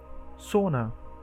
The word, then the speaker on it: sauna: Sauna, the Finnish o is like owl.